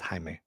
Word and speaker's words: Jaime: going to bring uh Jamie Reyes to life or Jaime Jaime Reyes you know it's Jamie the way it's spelled but it's Jaime yeah I like the